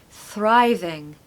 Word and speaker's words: thriving: say Thrive you need a strong R now not like other words we don't want to avoid the r here we want to really say it so Thrive thriving thriving thriving we want to stress the first syllable okay thrive in the